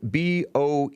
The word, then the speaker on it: Boehner: you understood my explanation yeah and John Boehner is spelled b-o-e-h-n-e-r but it's pronounced supposedly Boehner the original orange